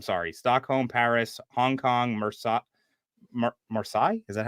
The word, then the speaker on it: Marseille: Stockholm, Paris, Hong Kong, Marseille? Is that how you pronounce that one? Uninspired MAR, Marseille, France? Marseille.